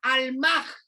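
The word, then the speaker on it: almah: virgen virgen en hebreo es la palabra al mar si lleva acento en la segunda a al mar que significa mujer soltera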